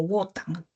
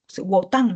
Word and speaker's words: Wotan: A Odín, o también conocido como Wotan. Wotan me parece que se pronuncia, ¿sí?